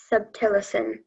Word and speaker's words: subtilisin: Subtilicin. Am I pronouncing the word right?